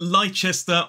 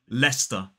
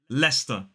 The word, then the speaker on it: Leicester: It is not Leicester or Leicester. This one is simply Leicester. Leicester. 2 syllables, the stress falls on the first.